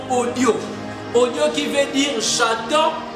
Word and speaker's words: audio: présent, les latinistes disent audio. Parce qu'en latin, tous les mots se prononcent. Mais en français, nous disons audio.